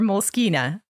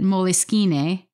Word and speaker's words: Moleskine: looked it up and the ceo of the company who's italian so he would likely pronounce it moleskine says that the italian-based